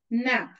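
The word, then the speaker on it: knap: It is having one silent letter.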